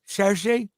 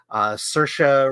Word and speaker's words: Saoirse: Saoirse? Pronouncing that wrong. Saoirse.